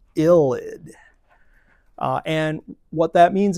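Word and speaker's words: ylide: This is something called a phosphorus illid spelled y l i d e pronounced illid.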